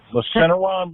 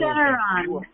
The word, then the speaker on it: Lufenuron: I don't know if I'm going to pronounce it. Robin will correct me, but Lufenuron. What does that exactly do? Lufenuron.